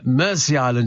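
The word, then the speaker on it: Mersea: side sitting in 23° at this time uh Mery Island in Essex pronounced exactly the same as the river Mery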